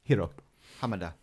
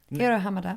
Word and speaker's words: Hiro Hamada: Am I saying that right? Hiro Hamada. Hiro Hamada. Yeah, equal emphasis on all syllables.